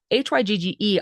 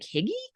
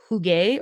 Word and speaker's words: hygge: And if I'm reading the pronunciation right, it's Hygge. I was like Higgy, and I think it's pronounced Huge or Huga.